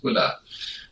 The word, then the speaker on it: Uhler: In English, we pronounce it Uhler, but in German, it's Uhler.